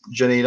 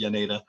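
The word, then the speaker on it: Jaenada: I actually really like that Oscar, it's Janeda. I think it's pronounced Yaneda.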